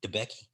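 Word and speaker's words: DeBakey: Was DeBecky?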